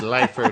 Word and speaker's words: Leifer: mustache it's Carol leafer it's lifer now I changed it yeah maybe I was